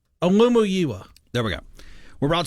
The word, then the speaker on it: Olumuyiwa: Are you going to try the pronunciation on the real name? Olumuyiwa.